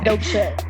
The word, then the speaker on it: Dopeché: So it's almost like saying dope shit, but without a T. So that's like the easiest way I could tell somebody dope shit.